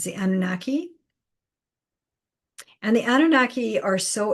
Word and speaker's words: Anunnaki: I know other people spell it differently, but that's how I've been told. It's the Anunnaki.